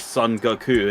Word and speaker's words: Son Goku: like based on like it's pronounced Son Goku in Japanese so yeah he just